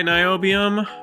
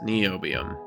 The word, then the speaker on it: niobium: like spell it phonetically like Bill NY the Science Guy niobium or like knees and ankles NE oium okay so I get